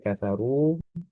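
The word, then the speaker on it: كفروا: Oh, mengenai huruf ro yang domah itu sifatnya tebal karena huruf ro kafaru di situ ya kafaru itu huruf itu memang huruf ro-nya sudah berharokat, yaitu harokatnya domah, ya, sudah hidup sebetulnya. Nah, sehingga tentunya ro domah sebagaimana ro fathah itu hukumnya adalah tebal. Ya. Kemudian diingat juga dua harokat ya, ru di situ ya, dua harokat.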